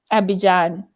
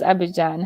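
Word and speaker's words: Abidjan: never how is uh abhijan i know you don't pronounce the d how is abhijan how is your life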